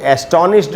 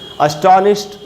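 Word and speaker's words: astonished: इसको एस्टॉनिश्ड नहीं पढ़ना चाहिए, अस्टॉनिश्ड। ये जो डी है एंड में, इससे ट का साउंड बनेगा, उसको पढ़ेंगे अस्टॉनिश्ड।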